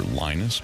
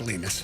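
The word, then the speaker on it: Linus: Yeah, we're looking for Lionus, but okay. Uh, it's pronounced Lenus.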